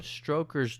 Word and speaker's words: Stoker: So, the inspiration for Bram Stoker's Dracula.